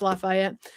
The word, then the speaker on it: Lafayette: or 6P newscast in Lafayette. Is it Lafayette? Yes. Yes. You're in Louisiana, so it's Lafayette. Tennessee has a Lafayette, but we don't pronounce it like that.